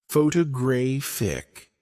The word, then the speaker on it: photographic: photographic, stress on the third syllable.